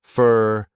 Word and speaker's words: for: So for becomes fur, thanks fur, your becomes your.